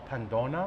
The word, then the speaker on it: Pandonna: that's right um so this town is called pona um how do you spell it p a n d o n a